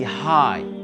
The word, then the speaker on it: high: Mais, though, pareil ici, high, le GH, on l'ignore, on ne le prononce pas.